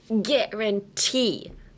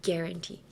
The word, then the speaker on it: guarantee: But in this case, emphasize the T, like guarantee. And there you have it, guarantee, guarantee.